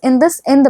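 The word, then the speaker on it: IndusInd: कई बार बच्चे इसको सही से प्रोनाउंस नहीं कर पाते हैं, तो इट इज इंडसइंड बैंक।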